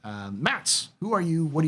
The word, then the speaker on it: Matze: So it's Mats, and just like it's spelled there, MATZE, Blue Eye.